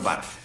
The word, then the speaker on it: Barthes: No me llamo tío, soy el señor Barth. La S no se pronuncia.